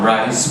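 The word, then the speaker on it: Rhys: I am Rice. It is spelled as R-H-Y-S. No vowels, interesting. Not R-I-C-E, but call me, huh?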